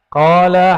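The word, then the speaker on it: قال: Qala haddatsana. Coba lihat. Ini enggak ada tulisan qalanya enggak? Enggak ada kan? Tapi ahli hadis membacanya qala. Dibaca qala itu.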